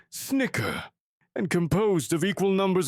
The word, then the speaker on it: CHCR: Acronym CHCR, pronounced Snicker, and composed of equal numbers of bipeds and quadripeds.